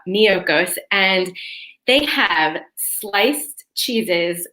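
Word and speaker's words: Miyoko's: there's this company called miyokos so that's spelled m as in mary i y o k o so almost like mykonos but miyokos and they have sliced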